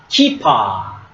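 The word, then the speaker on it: כִּפָּה: So you see this vowel mark, okay? Here, hirek. Hirek. Hirek is long E sound, right? So how do you say? Kap and E. So this is ki, right? Kipa. It's like when you play soccer, you have a keeper. So similar sound, but it's a kipa.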